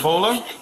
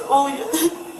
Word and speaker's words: Olya: Bola? It's Olya.